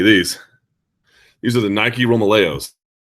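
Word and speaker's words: Romaleos: These are the Nike Romeos. This is how they pronounce it. I say Romelo even though I know that's incorrect.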